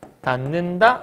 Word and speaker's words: 닫는다: 닫는다라고 얘기했어요 그러면 지금 디귿이 니은을 만났네요 니은 만났죠 그러면 만났으니 디귿이 뭘로 변한다고요 니은으로 변한다고 그러니까 여기는 얘를 어떻게 하면 돼 닫는다 이렇게 발음하면 돼요 변했죠 엄청 쉽지 잡는다